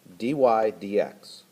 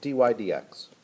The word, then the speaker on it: dy/dx: ones this means the derivative of Y it's pronounced dy/dx or the derivative why with respect to X